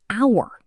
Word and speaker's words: hour: An hour, because the H is silent, so it starts with the vowel sound, ow.